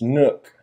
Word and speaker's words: Nook: kind of like when people call my shop the pipe nuke it's nook rhymes with hook anyway i guess we